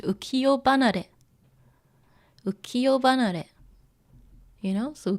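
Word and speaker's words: 浮世離れ: So ukiyo, like this world, you know, ukiyo, and it has hanare, but it's pronounced ukiyo banare.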